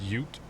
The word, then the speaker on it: ute: is pronounced ute, which is funny enough how English people will call youngsters youths.